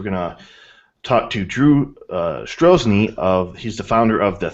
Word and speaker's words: Strojny: Is that Strojny? Strojny. You just don't pronounce the J. Strojny.